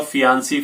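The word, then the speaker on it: fiancé: Last में single ई आता है और इसको बोलेंगे फियांसे।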